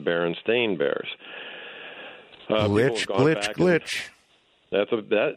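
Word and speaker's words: Berenstain: Google it now um everything is spelled s a i n and it's pronounced Baron stain Bears glitch that's a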